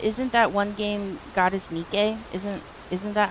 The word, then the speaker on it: Nike: How do you say Nike? Nikke. Like the goddess Nikke. Nike. Where I live, we pronounce Nike like we pronounce Nike like Pikeo.